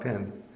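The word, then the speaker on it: පින්: it goes, bahu, hungak pin, or godak pin. It's just, pin is the Sinhalese pronunciation of punya, and then hungak or godak is the same as bahu, much.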